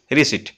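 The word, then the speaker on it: receipt: ঠিক আছে সেটি কইছি রিসিভর কখন প্ল্যান এটি পি সাইলেন্ট হইবো রিসিভ এটা রিসিভ রিসিট্ট ঠিক আছে এটি পি সাইলেন্ট হইছে নট প্রোনাউন্স এটা হইছে which letter of রিসিভ ইজ not pronounce কয়টা প্ল্যান না পি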